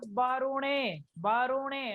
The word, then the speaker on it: वरुणे: अहेडमानो वरुणोऽथर्वोऽध्युरुषग्गो समान अहेडमानो वरुणे, ने उणो नहीं है, ओ नहीं है, ए है जी।